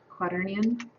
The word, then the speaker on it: quaternion: I just don't pronounce it correctly. Quaternion.